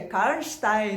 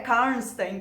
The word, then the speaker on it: Karnstein: Esse daqui é O Vampiro de Karnstein e Outras Histórias, do Sheridan Le Fanu. Tá? E é assim, gente, é Karnstein, não é Karnstein, como eu achei que fosse, porque eu assisti uns